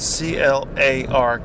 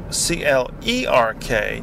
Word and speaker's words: clerk: But then they have the word clerk Clerk to mean somebody who works in a bank or somebody who works behind the counter at a shop. But they pronounce that Clark as well.